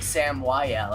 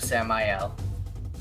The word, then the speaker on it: Samael: I'm saying Samuel instead of Samael.